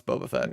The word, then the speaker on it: Boba Fett: No, it's Boba Fett.